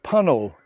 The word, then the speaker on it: Puncknowle: the pretty Village of pel in Dorset now the name's got a slightly unusual spelling but basically it rhymes with funnel and it's located about